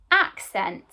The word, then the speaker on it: accent: today where is that accent and we can hear ack at the beginning so let's start with that ah and then we can hear sent so we've got our pronunciation